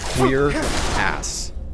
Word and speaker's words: cuirass: English is French, and the actual technical pronunciation of it, historically at least, is literally queer ass.